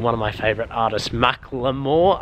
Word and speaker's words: Macklemore: of my favorite artists McLemore I think it's pronounced I like saying Macklemore cos that's what I've been brought up with by waiting outside actually